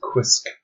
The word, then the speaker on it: quisk: got for you is quisk another alien word so it has the soundsq which comes from quilt and then isk So it rhymes with whisk.